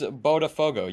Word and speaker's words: Botafogo: Today playing in the match best of 3, Luis from Team Flare A versus Matt of, I can't pronounce that name, Joe, sorry. Botafogo? It is Botafogo, yes.